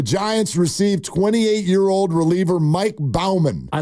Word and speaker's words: Baumann: Is it Bowman or Baumann? I don't know. Exactly. B-A-U. It should be Baumann. Oh. Yeah, it should be Baumann. Maybe it's Bowman, but if it is, he pronounces it wrong.